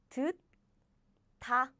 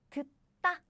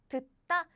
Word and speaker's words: 듣다: And this too, this is not 다, this is 따, 따, as in 듣다, 듣다.